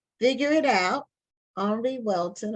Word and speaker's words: Henri: It's called Figure It Out, Henri Welton, or Henry, Henri will be the French I think it's Henri pronunciation, Weldon, and is by Tanita S.